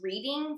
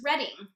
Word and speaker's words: Reading: I've been pronouncing as reading for like forever, and at the very beginning of this audiobook, they introduce the narrators, and I learned that her last name is actually pronounced Redding.